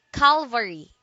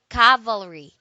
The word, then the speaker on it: cavalry: third word is cavalry cavalry don't say Calvary do say cavalry it is a noun